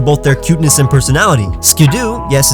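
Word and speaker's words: Skiddo: be milked for both their cuteness and personality skidoo yes it's pronounced ski-doo is both cute and energetic I've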